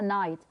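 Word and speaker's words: knight: على الورد نايت نايت ايه الكي ما بتتنطقش ولا ايه اه سايلنت ما بنطقهاش انطقها نايت from ذا يعني شخص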